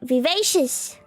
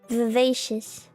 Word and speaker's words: vivacious: wrong V not v v v v v vivacious vious vious vivacious huh yeah MC has negative rist